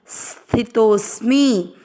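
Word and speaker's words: स्थितोऽस्मि: और म पूरे पर इ की मात्रा मी स्थि तोस मी गत दोनों अक्षर पूरे दोनों में अ मिक्स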